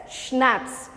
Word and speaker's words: schnapps: day tommy we have schnapps now this word is pronounced as schnapps i've mentioned this before also c is silent here so how you pronounce